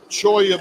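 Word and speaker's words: cholla: Cho of wood as I'm cutting through it choya by the way is a cactus it's spelled c h o l l a found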